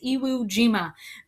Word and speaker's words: Iwo Jima: battle of iwo jima that's how you say it iwo jima very awkward bear with me